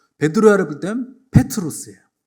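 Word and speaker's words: Πέτρος: 이 반석 위에 교회를 세운다고 하시는데 그 반석과 베드로의 반석 이름이 비슷하기 때문에 이 반석이 할 때는 페트라고 베드로야를 부를 때는 페트로스예요. 발음이 비슷합니다.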